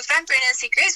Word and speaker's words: Fempreneur: So it's pronounced as Fempreneur Secrets. Oh, Fempreneur. Sorry. Yes. So for Fempreneur Secrets, what we have is what we call the Fempreneur Circle.